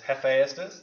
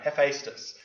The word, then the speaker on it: Hephaestus: faced us I had somebody somebody's told me the pronunciation leave its jefe esters no Hephaestus without the e I kept pronouncing it either since you have faced